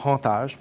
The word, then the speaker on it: hantage: Moi, je vais dire le hantage, parce qu'on prononce tous les H aspirés en Louisiane.